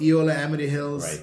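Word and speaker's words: Eola-Amity Hills: a very very famous V how do you pronounce it theola am Hills yeah the appal it's called Eola Amity Hills in the willit valley and you're making predominantly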